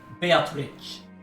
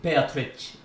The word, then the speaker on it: Beatrice: to weigh in here the japanese pronunciation of this name follows the italian pronunciation beatrice but um but one